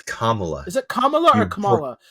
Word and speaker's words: Kamala: of Kamala Khan but hers hers is Kamala the the emphasis is on the the first syllable here I thought I